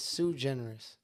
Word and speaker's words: Suigeneris: So, my actual name is Sue Generous.